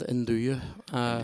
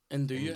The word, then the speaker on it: nduja: induja. Indura. And do you? Yeah. So and do you like it? The J is non-existent.